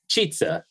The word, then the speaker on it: Chizza: It's spelled kind of, I guess it's like a chizza pizza.